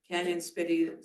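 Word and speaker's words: Cañon City: Canyon City is spelled CANON.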